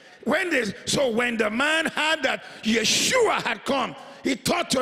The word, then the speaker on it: Yeshua: Because you see, for us, we just say Jesus. But for them, when they say Yeshua, it means, because that's the Hebrew way to say his name.